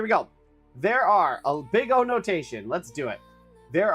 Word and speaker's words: Big O: big O analysis pronounced big O not big zero which is only funny